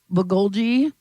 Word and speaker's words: bulgogi: I got the um bulgogi beef and rice. You got it. That's how it's pronounced.